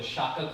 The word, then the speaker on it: Shakya: So his name means sage of the Shaka clan, or the Sakya clan, depending on which pronunciation you go for.